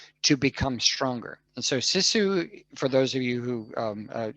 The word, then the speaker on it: sisu: Yes, Sisu. Sisu. Yes, and this is yeah. So for You're those of you who close. don't know, it's spelled Sisu, and Sisu is a Finnish, from people from Finland, not a Finnish.